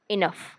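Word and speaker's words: enough: पुढे पाहूया जी एच चा आवाज फ असा येईल. फ असा येईल. फ जी एच इनफ इनफ अशा पद्धतीने त्याच्यानंतर जी एच चा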